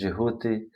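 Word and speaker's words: Djehuti: It's created by, it's given to us by, you know him as Thoth, Jehuti in Egypt, pronunciation is Jehuti, or Hermes in the Greek, in Romans it's Mercury, Odin in Nordic, and so on and so forth.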